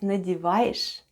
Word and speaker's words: надеваешь: Soft sign at the end of надеваешь doesn't affect the way we pronounce letter sh. And altogether it's надеваешь, надеваешь.